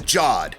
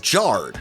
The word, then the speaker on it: Jod: Law as the force-sensitive Jod. Or was it Jard? I introduced myself as Jard, and they all call me Jod. Says Jard. However you would pronounce J-O-D.